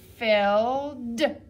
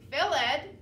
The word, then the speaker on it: filled: together ill filled filled this time it doesn't say end we only hear it only makes a d sound at the end so this word isn't philed phillid we say fill fill so we only hear that d sound let's try the next